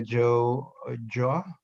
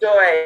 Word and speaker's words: Joy: Joy. It should be Joy, but my Caribbean parents don't pronounce it properly.